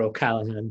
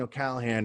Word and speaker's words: O'Callaghan: It's funny you keep saying O'Callaghan, and I know I'm an American, but I have Irish ancestry, and I know how to say it. There's a G in the way they spell it, and I kind of